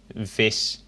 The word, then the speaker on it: vis: because in Norwegian the V is pronounced more like a Dutch W, which is very strange for me. but in Dutch, vis, vis, F and V would be nearly the same.